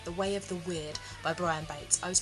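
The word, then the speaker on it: Wyrd: you about is called the way of the weird by Brian Bates I was pronouncing that as we're word before but I looked it up and apparently it's pronounced weird and even in the book it gives you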